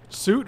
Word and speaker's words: soot: suit ritual of suit no i don't think so it's ritual of soot that's just that's dialect that's not that's not mispronunciation that's like saying uh it's like it's like saying florida instead of florida florida or orange instead of orange like it's just dialect totally soot get